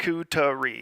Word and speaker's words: charcuterie: Charcuterie. Yes, that's how it's pronounced.